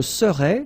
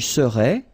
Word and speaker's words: serais: Je serais, same thing here, final S not pronounced. Tu serais, final S not pronounced.